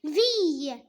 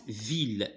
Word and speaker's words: ville: Monuments historiques de cette viille ville voilà alors c'est pas viille alors parfois i de se prononce comme par exemple vanille d'accord mais ici se prononce ville cette ville elle désire